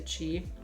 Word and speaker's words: Qi: Well, it fixed the chi. Yeah, it's spelled chi, Qi.